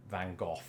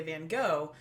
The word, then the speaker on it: Van Gogh: correct so so yes in Britain we say Van Gogh here in America growing up I was conditioned to say Van Gogh but increasing I've heard Americans say things like Van Gogh or Van Gogh okay I wonder if doctor who influenced that I've heard that the Dutch is closer to that first one you said there or something you